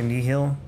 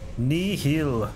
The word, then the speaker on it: Nihil: It's not the correct way to say Nihil. Sorry. That's how Mole says it. Nihil. You have to say it like it's your last words ever.